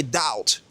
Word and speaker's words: doubt: Généralement, quand vous avez un B et un T, le B sera muet. Par exemple, un doute. Comment est-ce que vous allez prononcer un doute? Vous allez dire a doubt, right?